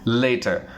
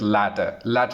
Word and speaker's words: later: The correct pronunciation for this one is later, but many people they mispronounce and say that latter.